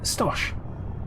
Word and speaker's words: Stosh: red flags okay um in american your stash because in the uk we have a term tosh it's something absolute tosh it's rubbish like it's um false you